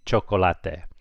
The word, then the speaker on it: chocolate: But when it's with a C, it makes a CH, so it'd be chocolate.